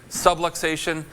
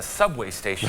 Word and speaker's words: subluxation: a spinal subluxation okay subluxation the number one way that's mispronounces the doc told me I had a subway station I don't know what